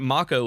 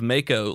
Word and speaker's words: Mako: oh and wood and they pronounced it Mach o in this instead of Mako like I think everyone in the world except for the Japanese has pronounced it so it's now pronounced Mach Oh apparently and it's like